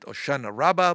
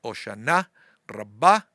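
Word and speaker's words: Hoshana Rabbah: Here they call it oceanana rabba but the Israeli pronunciation there pronunciation the one that I learned at school is oshana rabba.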